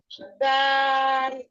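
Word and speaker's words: دال: জিহ্বার আগা সামনের দুই দাঁতের আগার সাথে।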